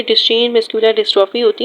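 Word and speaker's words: Duchenne: बट जो muscular dystrophy है ड्यूशीन, ड्यूशीन कहते हैं इसको, ड्यूशीन। वैसे तो बायोलॉजी में हमेशा हम लोग प्रोनाउंसिएशन अलग अलग होती है, बट फिर भी इसको कहते हैं ड्यूशीन।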